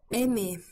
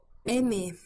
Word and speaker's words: aimer: So the R here doesn't actually pronounce the way as far as I can perceive.